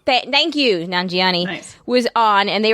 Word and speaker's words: Nanjiani: Yeah, Nanjabi. I don't know how to pronounce his last name. Thank you, Nanjiani.